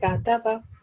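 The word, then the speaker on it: كَتَبَ: So it is, we pronounce this calf while like smiling face, widened our lips. Kataba.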